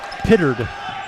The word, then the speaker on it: Pittard: Petard, good. That's a three. Pittard is how they're pronouncing it.